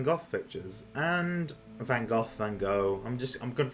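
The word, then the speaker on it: Van Gogh: see some Van Go pictures and Van Go Van Go. I'm just I'm going to pronounce it Van Go because that's how the episode does it.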